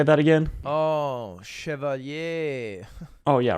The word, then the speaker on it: Chevalier: Oh, Chevalier.